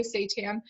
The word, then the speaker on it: seitan: diet is really great seitan is actually it's pronounced that way seitan is also a very good plant-based meat substitute